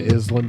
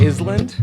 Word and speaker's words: island: like some kind of island vibe island island yep you mean island no i mean island silent s where did you go